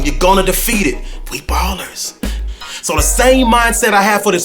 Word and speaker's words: BALLERZ: And so when I add the Z, it looks a little different, and people may pronounce it like BALLERZ or something crazy sometimes, but it's still the Ballers.